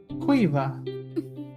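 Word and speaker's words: Caoimhe: differently interesting so for anyone listening the name is spelled c a o i m h e cueva wow i i could not see that at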